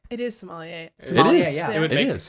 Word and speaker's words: sommelier: he's good how do you how do you pronounce what is it somewhere oh yeah yes google did me dirty sommelier it is sommelier it is yeah it is tends to be